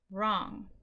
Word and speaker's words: wrong: Right and wrong, where we just pronounce the R's. The W's are silent. Right, wrong.